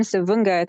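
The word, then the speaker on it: Savoonga: So I come from Savunga, that's how you pronounce it.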